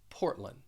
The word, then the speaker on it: Portland: say this that i i'm dropping the d even though the phonetic spelling and the ipa they include the d when when you say this you're going to drop the d and this is this is common this happens when the d follows an n portland before we continue